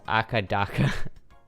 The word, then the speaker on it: AC/DC: In Australia, they pronounce it AC/DC as Akadaka.